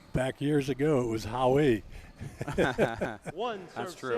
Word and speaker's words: Howe: It's probably the most easy word to pronounce. And yet I feel awkward when I say it. How. With that E on the end, Art.